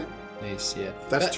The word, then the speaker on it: Nice: Nice, yeah.